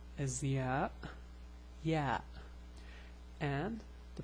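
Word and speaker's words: ي: Okay, so the name of the letter is ya, ya, and the pronunciation is ya. It's similar to the Y in English.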